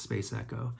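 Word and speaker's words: SPC ECO: And it's spelled SPC space ECO, and it's pronounced Space Echo.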